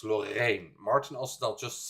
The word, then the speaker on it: Loreen: It's not Loreen, it's Lorraine. You see the difference?